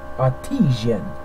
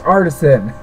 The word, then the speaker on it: artisan: you mean leave Ridge artesian it's an artesian yeah it's artisan I said that is